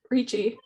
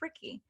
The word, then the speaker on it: Riechi: by s c e riechi or ricky that's how you pronounce it oh is it ricky i've always said rich richie i did too and she told me when we were talking one day that it's ricky so um well now